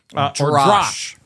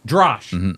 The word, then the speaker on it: Drash: I think I'm pronouncing it correct. Drash. Drash. As I looked at the Hebrew, it's Drash.